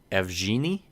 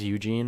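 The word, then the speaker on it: Evgeni: just texted me and said it's pronounced f Jeannie EVG e ni F Jeannie so I apologize Eugene or F Jeannie I'm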